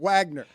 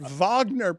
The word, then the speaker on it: Wagner: Well, but I was so tempted to pronounce it Wagner, but Vagner puts an ex extra little flare on Holy Terry.